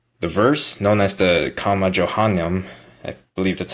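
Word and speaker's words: Comma Johanneum: The verse, known as the Comma Johannem, I believe that's how you pronounce it, is not found in any of the earliest Greek manuscripts up to the 9th century.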